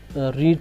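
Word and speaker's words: read: तो हमारी reported speech रीड थी, अब पास्ट रेड, वो तो वही है, स्पेलिंग इसकी, और रीड से रेड हो जाएगा। स्पेलिंग में, पढ़ने में ये जो स्पेलिंग सेम रहेंगे, अब ये प्रोनाउंस करने में थोड़ा डिफरेंट हो जाएगा।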